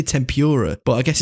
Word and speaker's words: tempura: title of the episode it's not Tempur it's tempura I mean it might